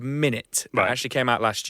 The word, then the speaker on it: Minit: It's a game called Minit. It actually came out last year. It's spelled MINIT, so Minute spelled IT.